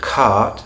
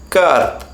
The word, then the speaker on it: cart: British English accent, then do not get into the habit of pronouncing that post vocalic R as a tap or a flap depending on how you categorize it. Do not pronounce the word cart as cut.